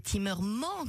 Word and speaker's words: Timmerman: Et ici, nous avons Vinicius Timmerman. Alors, on le prononce comme ça un peu à l'américaine, mais nous on le sait bien. En fait, c'est Timmerman qu'il faut entendre, bien évidemment.